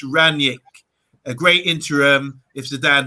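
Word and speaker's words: Rangnick: last one here is ranch is pronounced ranyik a great interim if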